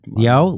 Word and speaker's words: Yeoh: Yeah, Yeoh leads a mostly Asian cast.